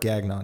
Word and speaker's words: Gagnon: Yeah, Gagnon is probably how you pronounce it with some French shit, but like then you got the whatever.